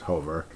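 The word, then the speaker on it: Hofer: I've been calling him Hoffer forever, but it's Hover.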